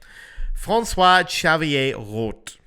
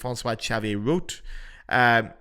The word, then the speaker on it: François-Xavier Roth: So, François-Xavier Roth, okay? Or for a more anglicized pronunciation, you're going to get François-Xavier Roth.